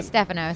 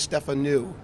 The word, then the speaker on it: Stefanou: you ask differently okay because I always say Stefano so I'm glad the easiest way to do it is Stefan ooh so new isn't something that's new as opposed